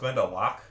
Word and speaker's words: Glendalough: It is pronounced Glendalough.